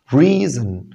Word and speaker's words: reason: قلت لك لما اجي حرف الار في الاول اضم شفايفي. reason reason وقلنا الاو هنا شوع، يعني احاول اخفيها بقدر الامكان واخلي صوته قصير جدا.